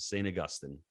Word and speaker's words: St. Augustine: That's the right way to pronounce it. St. Augustine.